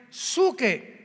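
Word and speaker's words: ψυχή: Y la palabra almas de hombres es la palabra griega suche, que se pronuncia suke.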